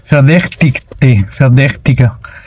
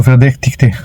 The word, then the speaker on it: Verdächtige: Recuerden que esta suena como E. Verdä, CH, verdäch. La CH suena como G.